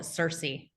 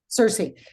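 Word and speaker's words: Circe: now I know that is it cir am I how do I am I pronouncing that the groups called it Cersei Cersei so now Cersei is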